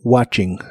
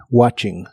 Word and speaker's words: watching: video o una película la t de esta palabra no se pronuncia solo watching watching y usaremos el verbo